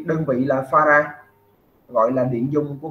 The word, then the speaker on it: farad: F đọc là farad.